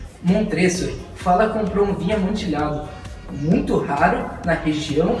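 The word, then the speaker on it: Amontillado: Mas já que estamos aqui, que tal falar um pouco sobre o conto O Barril de Amontilhado? Ou, na pronúncia italiana, Amontilhado. O conto foi escrito pelo escritor americano Edgar Allan Poe, um sujeito muito curioso.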